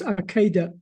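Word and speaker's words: עקדה: It's pronounced Akeda.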